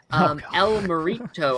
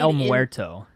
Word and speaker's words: El Muerto: So speaking of the Sonyverse, El Morito, I hope I pronounced that name right, has been delayed. I think it's El Muerto.